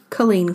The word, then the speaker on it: Culzean: we are talking about colleen castle now i might slip up through this episode because colleen castle is spelled c-u-l-z-e-a-n i remember it from the master list now yes so it's not spelt colleen and i'm reading my